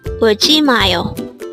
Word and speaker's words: 울지마요: This is pronounced as a four-syllable word. The first syllable is ul, second syllable is ji, third syllable is ma, and fourth syllable is yo. Pronounce it with me. 울지마요.